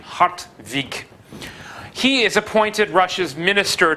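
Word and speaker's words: Hartwig: probably like an n hot week I suppose you could also spell it with a V if you want to get the right pronunciation hot week he is appointed Russia's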